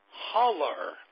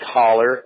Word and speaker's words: Haller: the name Haller and it looks like holler I'm not in the